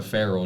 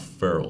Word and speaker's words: Pharaoh: Pharaoh dog, not feral dog. Yeah, like an Egyptian pharaoh.